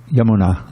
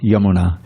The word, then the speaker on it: Yamuna: Yamuna. Yamuna, right? Long A at the end, short A at the beginning. Yamuna. But in the song, it's Yamuna, because it's on the bank of the Yamuna.